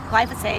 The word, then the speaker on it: glyphosate: But what we do know is that the amount of chemicals and pesticides, especially Roundup or glyphosate, is that how you pronounce it?